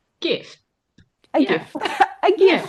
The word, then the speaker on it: GIF: No, not an Oh, emoji, a like gift, the a get gift.